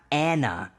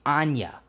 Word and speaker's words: Anya: But it's not Anna Taylor-Joy, as I thought for some fucking reason. It's Anya.